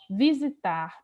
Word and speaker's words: visitar: Então, visitar, perceba que o tar é a sílaba mais forte.